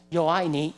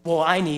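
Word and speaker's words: 我爱你: Yo ai ni. Well, actually, yo is Spanish. Sorry. Wo ai ni, right?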